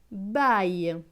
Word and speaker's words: baille: Plus loin, B avec AIL. AIL c'est aille. Donc B et aille, baille. Donc ce mot va se lire baille.